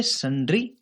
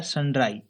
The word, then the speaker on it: sundry: सन्ड्री, सन्ड्री, इसे सन्ड्री या सनड्राई दोनों ही प्रोनाउंस किया जाता है, लेकिन सन्ड्री ज्यादा चलता है।